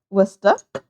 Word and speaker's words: Worcester: Same as like Worcester, like as in the Worcester sauce.